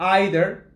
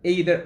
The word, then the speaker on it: either: two possibilities either or either either either the two pronunciations are correct uh either or either